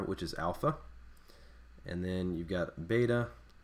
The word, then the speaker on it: alpha: So alpha will be pronounced a as in father.